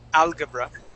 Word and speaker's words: algebra: this as Al alga algebra okay this G would take on a j sound we would say alge algebra algebra there you go one more time algebra